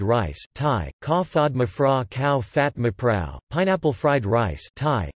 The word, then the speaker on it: ข้าวผัด: Thai fried rice, Thai, ka fod rtgs, cow fat, pronounced ka circumflex w piet or ka piet, is a variety of fried rice typical of central Thai cuisine.